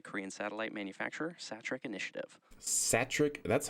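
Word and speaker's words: Satrec: Satric, that's how you pronounce it. I thought it was Satre.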